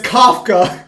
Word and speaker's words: Kafka: a bow and arrow it says k-a-f it's Kafka watch it don't don't correct me about this